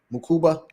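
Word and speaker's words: Mukuba: How you pronounce his name? Makuba.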